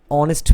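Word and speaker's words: honest: আরেকটা দেখো, হি ইজ অ্যান অনেস্ট ম্যান, এইখানে কিন্তু অনেস্ট ম্যান, সো এখানে উচ্চারণ কিন্তু ও এর মতো, ও সাউন্ডের মতো হচ্ছে, যার জন্য কিন্তু আমরা এটাকে ভাওয়েল হিসেবে ধরে নিচ্ছি।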